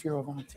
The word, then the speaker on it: Fioravanti: Is that how you say it? Fioravanti? Fioravanti, yeah.